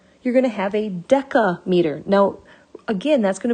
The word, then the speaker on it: deca: they do is they instead of making it that soft c sound they make the c into a hard sound and then they just change it into a k so it's a deca meter deca is our prefix meaning 10.